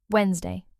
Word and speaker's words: Wednesday: Wednesday, just two syllables.